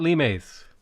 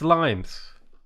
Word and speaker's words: limes: in english is pronounced limes not limes right despite the fact that it's a latin word it's limes and you will never